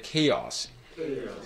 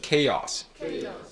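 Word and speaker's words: chaos: 저희가 계속 이렇게 한번 읽어보겠습니다 천천히 한번 이렇게 케어스 케이어스 케이약스 그리고 이거는 그래서 이제 강세도 이제 뭔가 다르고 뭔가 발음하는 부분도 조금 이제 다르거든요 다시 한번 같은데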